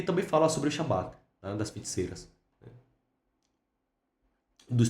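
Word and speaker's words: Sabbat: Eu falo Shabat, mas é Sabat também. Já vi pessoas pronunciando dessa maneira. Então, a pronuncia igual. Inclusive o meu orientador na época falava dessa maneira, assembleia noturna imaginária de bruxas e demônios.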